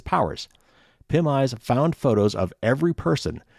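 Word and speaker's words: PimEyes: news for 29.99 a month a website called pim eyes and that's spelled p-i-m-e-y-e-s pim eyes offers a potentially dangerous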